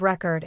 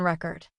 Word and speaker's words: record: Javier accidentally placed the stress on the second syllable, which turned the word into the verb record instead of the noun record.